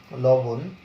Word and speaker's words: লবণ: যেমন তুমি যদি একটা শব্দ দেখো লবণ, তাহলে লবণে কিন্তু তোমার লবণ বানানে কিন্তু মূর্ধন্য, কিন্তু উচ্চারণে যখন তোমার তো পরীক্ষায় উচ্চারণ চাইবে তখন এটার উচ্চারণ হবে লবণ, এরকম।